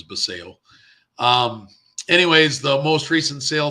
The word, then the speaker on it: Basallo: This is the 2023 Bowman Chrome First Prospect Auto of Samuel Basallo, or Basallo, depends on who you talk to. I say Basallo. I think correct pronunciation is Basallo.